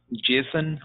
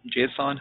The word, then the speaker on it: JSON: case of micro services we get to use JSON or JSON however you want to pronounce it it's a JavaScript object notation we